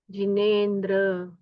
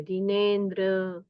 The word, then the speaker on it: जिनेंद्र: हां अ संसार गंभीर पारावार सुदस्त सुतरोयं क्षणव जिेंद्र तव दर्शनात जिेंद्र तव दर्शना जिेंद्र का उच्चार संपूर्ण कीजिए जिनेंद्र तव दर्शनात जिनेंद्र तव दर्शनात उत्तम